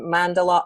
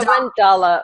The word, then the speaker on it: mandala: career, has a special interest and passion in mandala art, interpretation, and journaling. Now, you probably know that I don't know anything about mandala art because I'm probably mispronouncing it. How do you say it? Mandala. Yeah, mandala.